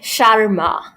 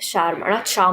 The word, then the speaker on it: Sharma: is the correct pronunciation it's like Sharma like Sharma not sha sh sh where's the shama know